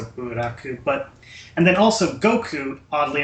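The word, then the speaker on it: ブラック: So, you know, it's got that kind of the Japanese pronunciation of the English word black, so buraku.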